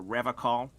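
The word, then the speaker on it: Revachol: stay strong for revocal he pronounces with a hard K unlike other people you said River Cole uh uh sure I like to pronounce it the hard way the old way the Vesper time way solemnly he Winks at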